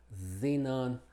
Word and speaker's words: xenon: Y como Z al principio de las palabras, como xenon, xylophone.